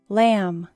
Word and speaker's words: lamb: Lamb. Não pronuncie a letra B. Lamb.